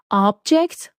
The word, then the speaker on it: object: range of food easily the next one is object or object object or object object which